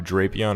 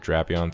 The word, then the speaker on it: Drapion: Then we got Skorupi, which is a Bug Poison-type Pokemon, which evolves into Drapion, or Drapion, some people say it like that, which is Poison Dark.